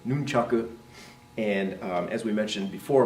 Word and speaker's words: nunchaku: handles , the sickles there's the nunchaku right not dumb Chuck sir nunchucks but nunchaku and as we mentioned